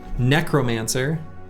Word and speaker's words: necromancer: This is, this is a kid who first saw the word necromancer in video games and just said necromancer. I put emphasis on the wrong syllable for most of my life.